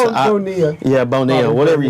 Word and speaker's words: Bonilla: Bobby Bonoli, or is that, I can't remember how you say it. Bonilla.